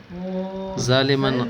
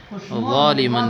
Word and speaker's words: ظالما: ظالما خطأ، أخطأت في التلفظ، بل قل ظالما بالضاء لا بالزاء.